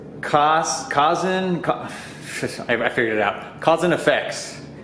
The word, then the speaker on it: KHASNFX: Cousin Effects, but it's spelled KHASNFX. What was your first car?